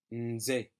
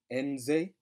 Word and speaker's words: nze: Nze, nze. And again, don't be tempted to pronounce that N by itself, as in nze, but to bleed into it as though you're saying in, nze, nze.